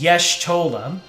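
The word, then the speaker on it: Y'shtola: Fantasy 14 I do know that the proper pronunciation is yes TOA like the word yes mispronounced then TOA I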